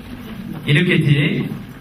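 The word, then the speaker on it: iniquity: 이니퀴티. 이니퀴티. 큐티가 아니고요. 이니퀴티. 자, 그 다음에 자, 5절에도 있죠?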